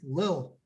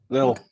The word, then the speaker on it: little: was it called crunch you're saying it wrong you're putting the tt in the middle of no nice and little it's little little i only have so